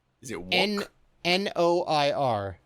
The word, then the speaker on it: noir: Is it wonk? Is it wonk? N-O-I-R, noir. Is it wonk? You sure it's not wonk? It's not wonk. So, when you ever hear somebody talk about film noir, yes, literally means black film, but it has that.